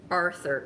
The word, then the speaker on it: Arthur: Aaron alluded to the fact that I don't pronounce Arthur correctly. I pronounce it like author, like the person who writes books.